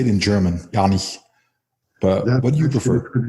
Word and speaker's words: Janich: back on my father's side of the family, Janich would be the traditional pronunciation, but very few people know that. Very few people are that culturally aware. So usually it just comes off as Janich, but I've been called much worse.